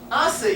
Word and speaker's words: hace: Hace, yeah, the H is silent, so it turns like ace.